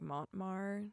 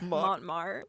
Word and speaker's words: Montmartre: It was, I don't remember the name of it, but it was near like Montmartre, like that hill.